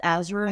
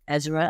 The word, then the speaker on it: Azra: Azra is pronounced Azra. You pronounce it Ezra, I prefer. But yes, it's pronounced Azra.